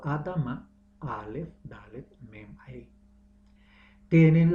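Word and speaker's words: אדמה: El suelo del cual Adán fue creado pronunciado Adama, Aleph, Dalet, Mem, Hei. Tienen la misma raíz y familias de la tierra pronunciado en hebreo Mishpahat, Adama.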